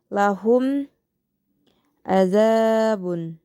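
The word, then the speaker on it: لَهُمْ عَذَابٌ: Selanjutnya pada lafaz lahum azabun yaitu idhar syafawi karena terdapat mim huruf mim sukun yang bertemu dengan huruf a. Bacanya pun harus jelas. Lahum azabun.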